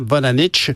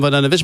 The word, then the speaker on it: Vodanovic: qui est dans l'équipe, Valérie Plante, Mme Vodanovic, Mme Vodanovic, bonjour. Bonjour, M. Nantel. Bonjour, est-ce que j'ai bien prononcé votre nom?